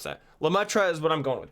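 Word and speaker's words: Lemaître: me look it up lametra lametra is the English pronunciation I probably butchered that but I tried guys you have no idea how hard I tried to pronounce that lutra is what I'm going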